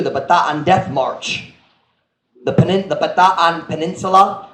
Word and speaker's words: Bataan: The Bataan Peninsula, everyone in America pronounces it Bataan, but I know it's Bataan here.